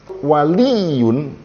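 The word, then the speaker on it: ولي: Waliyun, wawunya pendek, lamnya kemudian ya-nya siddah.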